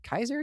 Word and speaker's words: Caesar: She's like well you're not really German so I'm not sure why we're going with Kaiser here but you know sure. They don't do the soft sea. No soft sea for them.